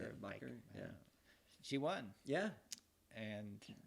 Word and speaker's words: Bakker: Bakker.